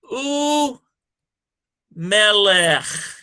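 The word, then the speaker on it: וּמֶלֶךְ: Notice it's pronounced u melech. There's no V there.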